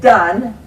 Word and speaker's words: done: would say okay it's done d-u and done now done just you don't know done is spelled d-o-n-e but it sounds like d-u-n done why didn't they spell it that way so he would